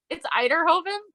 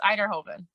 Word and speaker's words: Uyterhoeven: pronounce your last name oh yes eiderhoven I always say it's like Idaho potatoes eiderhoven so yeah oh so